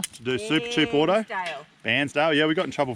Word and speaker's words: Bairnsdale: their snags and meat from a butcher in Barnsdale. Bairnsdale. Oh, it's a weird way to say it, is it? How do you say it, Duh? Bairnsdale.